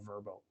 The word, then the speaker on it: Vrbo: vrbo and everything and you're not verbal sorry save your bo but it's now verbal i've been corrected by my verbal friends how to pronounce it now um the the